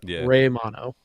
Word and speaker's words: Romano: I mean uh Romano Romano right that's how they pronounced it was Ray mono um you know I